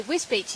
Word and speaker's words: Wisbech: So Wisbech is actually how it's pronounced.